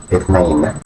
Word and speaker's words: اثنين: Pronunciation اثنين meaning two. This number represents duality. Duality. Its pronunciation may seem tricky initially due to the th sound, but it becomes easier with practice.